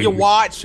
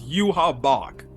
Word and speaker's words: Yhwach: finally got it right it's not your watch or whatever you mean it's you have Bach which is actually how they pronounce it during the episode it's gonna take me